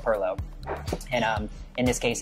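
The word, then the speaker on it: pilau: l Au U um it does have different spellings different pronunciations we call it Perlo and um in this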